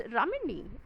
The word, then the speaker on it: Ramini: it, like for example my own name, it's Ramini. However, I see that most of the people, when they're uttering my name, they cannot even pronounce my name properly.